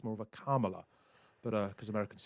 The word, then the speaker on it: Kamala: exactly how to say Kamala Harris's name. She said pretty clearly 4 years ago when she became vice president that it was pronounced the same as you pronounce the word comma.